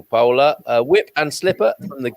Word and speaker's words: Paula: paula already paula in in the english pronunciation paula but uh here in portugal pola whip and slipper from